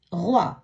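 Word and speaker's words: roi: ஏர் ஓ இ ரோய், அரசன்.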